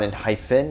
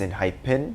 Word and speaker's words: ENHYPEN: doing a lot now i was told that i was pronouncing their name wrong it's not in hyphen it's in hype pin so sorry about that